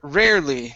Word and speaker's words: rarely: Let's go to the word rarely. Now, in this word, this E is not pronounced. So we don't say rarely, it's rarely. Rarely.